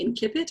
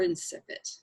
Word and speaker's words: incipit: I really do um either a hard or a soft C so it can be in kippot or insipid incipits that will live